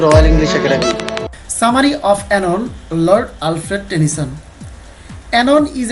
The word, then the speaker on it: Oenone: তো অনেকে এটিকে অইনন বা অ্যানন বিভিন্নভাবে বলতে পারেন, আসলে এই নামটি হচ্ছে অ্যানন।